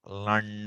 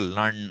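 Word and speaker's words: laṇ: Lun. I pronounce it lun, not lun. Lun. That nasalized vowel. So this is equivalent to what? This is equivalent to la and a with a nasalization.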